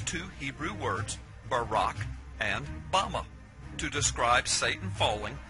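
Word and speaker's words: במה: in the Strong's Hebrew dictionary and it is pronounced Bama Bama is most commonly used to refer to a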